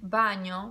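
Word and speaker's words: bagno: onions onions why because G and together are new yeah words for example like Vanya Vanya means bathroom it's soft bye no or company a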